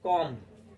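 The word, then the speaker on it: comb: है इसे पढ़ेंगे हम कॉम क्या पढ़ेंगे कॉम तो इसमें क्या साइलेंट है इसमें बी साइलेंट है जब भी एम के साथ बी आता है तो बी चुप हो जाता है ठीक है तो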